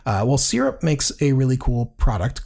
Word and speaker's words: Syrp: My short end this week is a company out of New Zealand called Syrp, and they spell it a little bit funny.